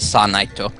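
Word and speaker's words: サーナイト: Sana and Nyla because sir Knight is pronounced sanaito yeah in Japanese yeah yeah Sana oh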